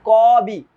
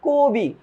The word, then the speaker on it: কবি: আদ্য অ এর পরে যদি একটা হ্রস্ব ইকার থাকে বা একটা দীর্ঘ ইকার থাকে বা হ্রস্বকার বা দীর্ঘকার যদি থাকে, অ এর উচ্চারণটা হয়ে যায় ও এর মতো। এই কারণে আমরা বলি না কবি, এটা বলি না, আমরা বলি কবি।